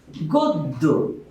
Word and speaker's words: গদ্য: যেমন আমরা যদি লিখি গদ্য, এখানে আমরা দেখতে পাচ্ছি জফলা পদের শেষে এসেছে, যার কারণে এই যুক্ত বর্ণ দ এর দ্বিত্ব উচ্চারণ হবে, লিখতে হবে গদ্য।